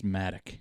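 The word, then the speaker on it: Madoc: pronouncing his name right madok madok is how it's spelled m-a-d-o-c and i think it sounds cooler but i've heard it's matic matic yeah which doesn't sound quite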